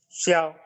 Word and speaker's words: ciao: Jadi Q di sini dia bacanya CH. Bacanya ya. Jadi ciao karena IU bacanya IOU. Jadi ciao. Ciao.